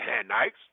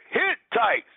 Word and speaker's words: Hittites: pites the hanit or not the hites I said that wrong one second cuz I need to say it correctly the canites the uh Hittites the perizzites the amorites